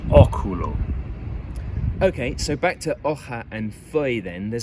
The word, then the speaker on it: hoja: It's become a more throaty consonant sound like in hoja, a bit like the CH in loch. Again, there are hundreds of examples of this.